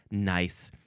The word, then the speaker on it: gneiss: It is spelled G N I SS.